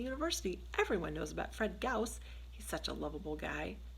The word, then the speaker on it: Gauss: kobak was taking such a personal interest in him my name is Fred Gauss a Gauss it rhymes with house call back dashed into